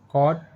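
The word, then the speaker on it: caught: कॉट, फॉट, टॉट, what, थॉट। इन सभी words में word के लास्ट में जी एच टी लेटर आया है और जी एच टी लेटर में जी एच साइलेंट है।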